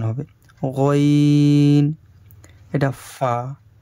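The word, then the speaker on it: ف: গইন, এটা ফা। ফা কিন্তু একটু ভালোভাবে পড়বেন, দুটো ঠোঁট মেলাবেন না।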